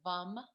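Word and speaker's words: vam: l-a-m and then v-a-m b is in victor vum and i remember that with because it's your sexual center so it's v so i remember a vom and then that the third chakra is the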